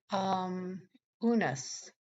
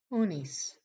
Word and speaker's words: Unas: Unas in Egyptian, also pronounced Unis.